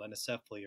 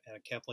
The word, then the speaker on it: anencephaly: Our first child died of a condition called anencephaly, or some pronounce it anencephaly.